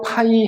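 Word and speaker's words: φ: 밑에 뭐가 있냐면 오일러 파이 함수라고 하는게 있어 오일러 파이 함수 근데이 오일러 파이 함수를 오일러 p 함수라고 읽어주기도 해 자 생겨먹은 건 다음과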